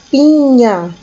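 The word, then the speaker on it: piña: a nanana banana Pinha Lembrando que o n confio sim em cima tem o som de NH então a gente fala Pinha mais Pinha Lembrando que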